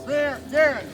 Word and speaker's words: Garand: Is an M1 Garand, or Garand, as it's pronounced.